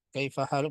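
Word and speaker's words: كيف حالك: Penulisannya seperti ini, haluki. Tapi cara bacanya tetap kaifa haluk. Dalam percakapan biasanya disukun saja ya, kaifa haluk.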